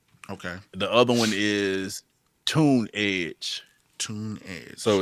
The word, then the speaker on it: Tunedge: The other one is Tunedge. Tunedge. So it's TUNDGE. Let me make sure that's spelled right.